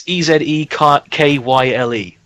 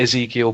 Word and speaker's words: Ezekyle: It's Ezekyle. Okay. So it's not quite Ezekiel, but that's I would say that's a fair pronunciation of it.